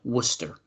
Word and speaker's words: Worcester: Why does every Massachusetts city have to be like said different than it's spelled? Like Worcester.